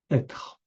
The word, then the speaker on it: être: I know it may be difficult for foreign people to pronounce r, être. So, to help you, try to do like a growling dog. A growling dog do r. So, you say être at first, être like a dog, and after être, être, lightly, être.